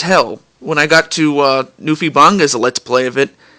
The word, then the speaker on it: NewfieBangaa: That's spelled Newfie as in Newfoundland in Canada, but it's Newfie. New like NEWFIE, and then Banga spelled BANGAA. NewfieBangaa.